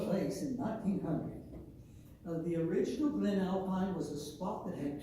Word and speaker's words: Glen Alpine: We are looking at Glen Alpine, and it's pronounced Glen Alpine or Glen Alpine. The locals say Glen Alpine, and you can tell where a person's from if they say Glen Alpine.